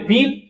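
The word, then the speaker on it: ville: अब यहां पे ना इसका एक एक्सेप्शन भी था व्हील है ना इ लगा हुआ था उसमें आई डबल एल ए यहां पे विल ये एक्सेप्शन है बाकी का जगह पे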